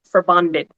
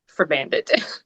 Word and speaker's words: Forbandet: the pronunciation, it the the proper technical pronunciation is for bonded, but I just say in my own Americanized way for bandit.